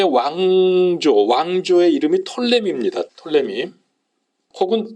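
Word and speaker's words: Ptolemy: 알아 두세요 남쪽의 왕조 왕조의 이름이 털림 입니다 톨레미 혹은 투 톨레미 라고 앞에 풋 짤을 붙이기도 영화의 피가 있는데요 묵음 인데 펄님 이 왕족의 얘기는 그 왕의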